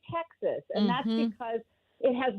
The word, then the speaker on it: Texas: And we don't say Tejas, right? We say Texas.